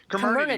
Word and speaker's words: Comirnaty: Comirnaty, because part of the amalgam is community.